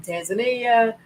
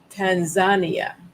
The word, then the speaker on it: Tanzania: I met Africans from Tanzania. They pronounce it Tanzania. We say Tanzania here. They say Tanzania. And from Kenya and from